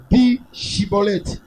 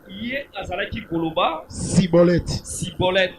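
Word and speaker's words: schibboleth: Il lui disait alors et bien chibolet et il disait cibolette car il ne pouvait pas bien prononcer sur quoi les hommes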